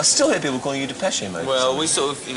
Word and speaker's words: Depeche Mode: before I this again I looked up I said how do you pronounce it and it said dep pesi mode like peshy like Joel peshy but they're saying it's